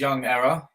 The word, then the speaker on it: YvngError: So my name's YvngError, and that's spelled with a V.